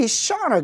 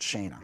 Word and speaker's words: Shauna: So I hope it's Shauna, not Shana. Shauna, right?